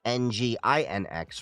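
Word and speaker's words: nginx: Linux engine X which is NG NX for that any of you wondering not e n g i n e x MySQL or Maria DB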